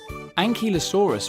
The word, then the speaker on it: Ankylosaurus: Ankylosaurus.